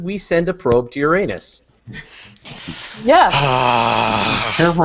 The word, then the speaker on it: Uranus: of the planet and pronounce it Uranus instead of Uranus or uranos if you want to be really Greek about it um but uh as